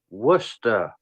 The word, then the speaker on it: Worcester: safe is this safe for YouTube it is pronounced Worcester there you go espera there you go oh